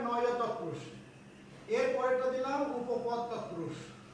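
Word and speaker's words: নঞ্ তৎপুরুষ: Number 2 হচ্ছে নয় তৎপুরুষ। অনেকেই নঞ্চ বলে না, এটা উচ্চারণ হবে নয় তৎপুরুষ।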